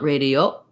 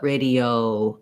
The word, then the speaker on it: radio: quite the same sound first syllable stress and then we have letter i says e and letter o another diphthong in american english so you don't want radio but radio oh you're going to relax you're going to close and relax the jaw in that o diphthong so rey d o